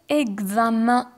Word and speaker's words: examen: Parfois, le EN ne se prononce pas en, d'accord, ما ننطقوهش en. Nous avons quelques cas exceptionnels راح نذكر جماعة الأكثر شيوعاً. Par exemple, le mot examen. Examen. ما نطقناهش en, نطقناه un. Ou encore lycéen.